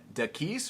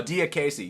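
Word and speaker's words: Diakiese: So, Mark, how do you how do you pronounce this guy's last name? Uh, Dis or what? Mark Diaz. Oh, Diace.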